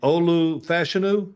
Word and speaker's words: Olu Fashanu: Olu Fashanu?